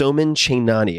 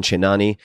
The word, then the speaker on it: Chainani: this one it is a conversation with s chenani and I'll spell that for you s o m an c